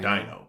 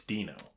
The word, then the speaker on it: Dino: That's how it's spelled. It's like Dino, but it's Dino.